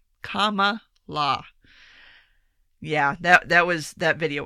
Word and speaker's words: Kamala: jumped ahead of Kamala I will pronounce her name like that for forever now because that's how she she taught us all how to pronounce her name in the YouTube video it's Kamala comma law yeah that was that